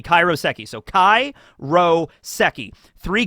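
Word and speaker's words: 海楼石: kanji that make it up and it's actually pronounced kairoseki not karyoseki kairoseki so Kai Ro seki three kanji all right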